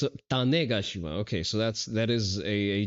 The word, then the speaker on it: Tanegashima: Oh, okay, it's a Tanegashima. Okay, so that is a Japanese flintlock, I see. It's a catch-all terms for all Japanese. You're missing a syllable there. It's Tane. Tane. Gashima.